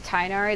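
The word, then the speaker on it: Tighnari: have been conria i guess it's tynari the g is silent he probably wasn't telling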